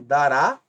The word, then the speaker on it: dará: de S levarão acento nesse caso aqui dará termina em A última é a mais forte e termina em